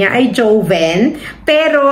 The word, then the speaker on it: Joven: ang name niya ay Joven pero ang pronunciation niyan dito sa Spanish is hoven means young mga ano teenagers hoven hoven Okay young and